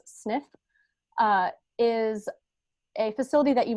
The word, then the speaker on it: SNF: is abbreviated snf and we usually pronounce as sniff is a facility that